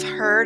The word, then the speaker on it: heard: familiar traps beware of heard a dreadful word that looks like beard but sounds like bird and dead it's said